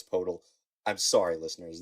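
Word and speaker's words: Poeltl: a pick for purle I always call him purle I know it's portal I'm sorry listeners it's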